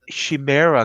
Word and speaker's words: Chimera: going to go with the most common pronunciation is the Chimera Code. Although, Chimera. Okay. although personally I pronounce it the Chimera Code, but that's me, and I understand a